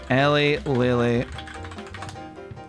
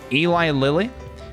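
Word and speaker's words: Eli Lilly: Ellie Lily. Is that what it's called? I'm not familiar with the company. A pharmaceutical company. Somebody signed up as them. Got it verified. It's pronounced Eli. Eli Eli Lily um somebody signed up,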